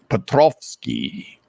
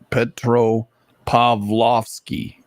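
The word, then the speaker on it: Petropavlovsk: it happened like just as I left Petroski petrovski no P Petro pavlovski yeah just ask I how to say it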